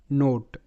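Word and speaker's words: note: ওট এখানে শব্দ যেমন নোট এন ও টি ই নোট নোট ভোট ভি ও টি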